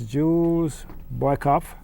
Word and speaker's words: Jules Boykoff: My guest this evening is Jules Boykoff. Did I pronounce that correctly?